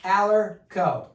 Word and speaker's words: AllergCo: yeah yeah we're gonna add in allerco allerco silent G I love it so